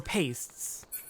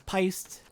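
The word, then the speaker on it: Paissa: believe that all right I thought it was pised or feisty no it's paste because the pun is it pays to listen thank you again I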